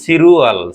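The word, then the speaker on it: 칠월: ল তাহলে কি হবে আমরা জানি কি বাচন চেঞ্জ হলে রটা কোথায় যাবে উপরে চলে যাবে তাহলে র চপারে গেলে সিলরুয়াল তাহলে কি হবে সিরুয়াল সিরু আল তাহলে এখানে আমি লিখে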